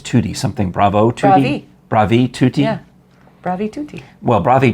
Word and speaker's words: bravi: when it's everybody it's 2d something bravo too bravi yeah bravi tutti well bravi tutti to the